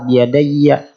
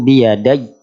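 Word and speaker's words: بِيَدَيَّ: Kadang sebagian kesalahan membacanya biyadai. Nah, i-nya dibaca pendek biyadai. Juga ada yang membaca salah biyadayya. Nah, fathahnya masih kebaca. Jadi yang betul khalaqtu biyadai.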